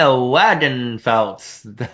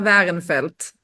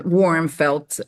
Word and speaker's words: Wagenfeld: All right, I'm Wagenfeld, and we do use the English translation Warmfeld many, many times over. So that's fine too.